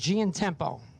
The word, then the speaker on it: Giantiempo: Actually, they told me how to pronounce that name at Cecil. I think it's just Giantempo.